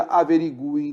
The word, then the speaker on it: averigúem: colocava cento em averigúem agora depois da reforma ortográfica não há mais esse acento legal se pronuncia averigúem da mesma forma e não tem o